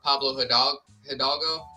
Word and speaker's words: Pablo Hidalgo: Within the last 24 hours, Star Wars executive Pablo Hidalgo. Yeah. I'm bad at pronouncing his name, but no, you said it right.